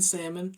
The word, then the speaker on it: salmon: mhm is she saying people who pronounce the L in Salmon I believe probably Salon